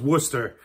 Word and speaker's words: Worcester: If you just think Worcestershire sauce, and Worcestershire is another word that, you know, tends to trip people up. But anyways, it is pronounced Worcester.